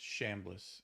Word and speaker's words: Chambliss: It's spelled CH. I know. But I think it's pronounced Shambliss.